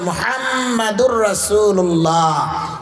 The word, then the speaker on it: মুহাম্মাদুর রাসুলুল্লাহ: মুসলমান পরে মোহাম্মদ মোহাম্মদ আমাদের নবীর নাম মোহাম্মদ না নাম হচ্ছে মুহাম্মাদুর রাসুলুল্লাহ অর্থ আসে প্রশংসিত একজন